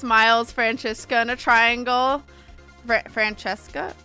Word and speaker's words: Franziska: Francesca? Is that how you say it? Franziska, I think. Franziska.